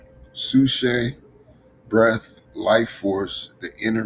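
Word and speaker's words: ψυχή: I want to say the P is silent. Sushe, breath, life force, the inner man.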